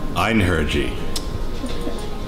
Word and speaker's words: Einherji: Einherji. What is this? Is this... So just say the word? Yes. Okay. Einherji.